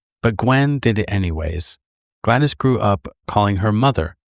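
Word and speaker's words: Gwladys: Gwen adopted a 2-year-old girl named Glattis. Well, it is spelled G W L A D Y S. So, just a different way of spelling it, I guess. But if I got it wrong, sorry.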